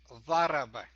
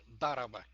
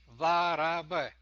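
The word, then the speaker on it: ضرب: The pronunciation for that word is daraba. It's not daraba. Daraba start with D, but in Arabic it's th, the, daraba, not daraba.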